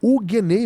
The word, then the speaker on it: Hugueney: Não confunda Huguenay, esse sobrenome Huguenay, com Huguenay. É Huguenay mesmo, como eu pronunciei agora, tá?